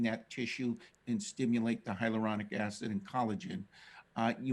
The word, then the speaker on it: hyaluronic: about collagen in lotions and um and higher hyaluronic acid is that how you say it uh